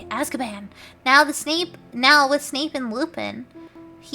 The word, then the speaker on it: Azkaban: That's how you say it, Azkaban.